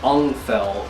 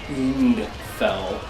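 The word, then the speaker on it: Ungfell: of since day one and that would be unfell or the correct way to pronounce it is end fell but i've always pronounced it until because i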